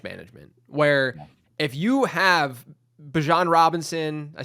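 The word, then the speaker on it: Bijan Robinson: and that's bench management where if you have Bjon Robinson, I said it right that time.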